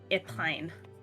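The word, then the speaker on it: Épine: you spell epine uh it's the E with a little Accent on it uh p i n e epine it's French I love you Pine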